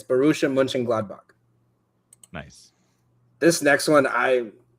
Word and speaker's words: Borussia Mönchengladbach: So the way it's pronounced right there is München. So like München. It's Borussia Mönchengladbach.